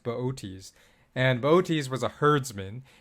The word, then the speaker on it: Boötes: It looks like booties, but it's pronounced Boötes.